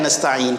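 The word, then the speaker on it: نستعين: atau ada Hai apa orang yang keliru dalam membaca seperti again tasbih nastain nastain next erinnerst style biasa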